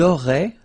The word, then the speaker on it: auraient: auriez, and then, ils auraient, little link, but then look, A-I-E-N-T like that, and you only pronounce E, like we had here. It will be exactly the same pronunciation here.